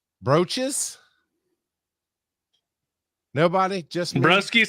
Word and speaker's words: Broesches: I think that is pronounced broskies. That's how I'm going to say it. Broskies. But how do you guys think that name is pronounced? Brooches?